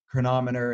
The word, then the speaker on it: Cronometer: Download an app like Chronometer. It's spelled Cronometer, or MyFitnessPal, or any app out there, and like track what you're having in a day.